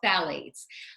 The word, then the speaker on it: phthalates: called phthalates and that's spelled with a ph and a th in case you aren't looking it's called phthalates which is what helps the